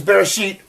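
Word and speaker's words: בראשית: pretty cool huh anyway so this is bear sheet and R ish all f r the sheen is a sh sound yud ya and the TA is the T sound so you sound it out and if we look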